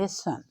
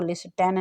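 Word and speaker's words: listen: Year can लिसन। और से देखिए LIS लिस्ट, TEN टन, लिसन। आपने इसको लिस्टन नहीं पढ़ना, ओके। इसकी ओरिजिनल प्रोनाउंसिएशन है लिसन, सुनना।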